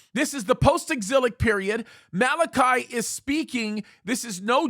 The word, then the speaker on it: Malachi: and quite the incredible Prophet Malachi that's the right way to say it Malachi had an incredible